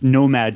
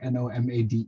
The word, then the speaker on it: Nomade: so it's Nomad Slang. Nomad. Okay. So I Yeah, wasn't just sure if it Nomad. was Nomade because it's spelled like Nomade.